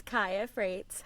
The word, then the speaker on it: Khaya Fraites: gonna butcher your name if I try to pronounce it? Sure. Uh, it's Ka Freight.